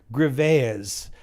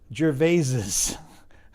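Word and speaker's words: Gervais: And no, when Ricky Jerves was refers to his name in the possessive, he doesn't just say Graves, he says Jerves.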